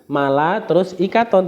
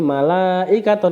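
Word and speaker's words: مَلَائِكَة: itu kan satu kalimat malaikaton Bukan Mala terus ikaton tapi malaikaton karena itu satu kalimat selanjutnya ada Ma is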